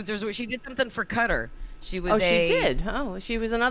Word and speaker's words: Qatar: You're supposed to say it cutter.